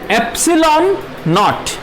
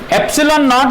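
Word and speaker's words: epsilon naught: अब ये जो टर्म है एप्सिलॉन नॉट, इसको कैसे प्रोनाउंस किया मैंने? एप्सिलॉन नॉट। ठीक है, एप्सिलॉन नॉट इसका प्रोनाउंसिएशन है एप्सिलॉन नॉट, इसका प्रोनाउंसिएशन ये है एप्सिलॉन नॉट।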